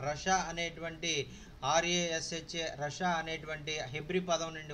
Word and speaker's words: rasha: The word wicked is from the Hebrew word rasha. Rasha is spelled R-A-S-H-A, rasha.